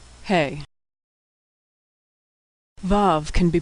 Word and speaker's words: Hey: Hey is pronounced like the H in hello. Like H in English, it's silent at the end of words. Hey.